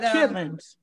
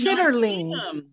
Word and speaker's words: chitterlings: Just like chitlins. I was just about to say like chitlins, but you have to chitterlings.